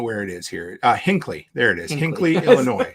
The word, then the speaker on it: Hinckley: Nate and Aaron's place in how do I pronounce it Henke Henke Illinois I can't say I don't know where it is here uh Hinckley there it is Hinckley Illinois so yeah so